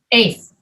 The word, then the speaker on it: eighth: his eighth birthday yes eighth you don't bring your lips together for eighth at all just eight eight that's